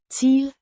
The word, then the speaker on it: til: til, Means, to. Pronounced. teel, It's a preposition indicating direction or recipient.